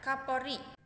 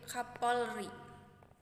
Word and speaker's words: Kapolri: dilihat dari kutipan tersebut terjadi kesalahan pengucapan bunyi pada kata kapori pada kata tersebut terjadi penghilangan fonem konsonan l pada tengah kata pengucapan bunyi yang salah dari kata kapori seharusnya yang benar yaitu Kapolri berikutnya tapi perlu saya